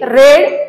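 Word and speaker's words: read: अशा पद्धतीने येते शी रेड अ बुक आता इथे रीडचा रेड हा भूतकाळ झालेला आहे जरी याच्यामध्ये स्पेलिंग तुम्हाला रीड आरडी दिसत असले तरी सुद्धा त्याचा उच्चार रेड असा करायचा आहे कारण तो त्याचा भूतकाळ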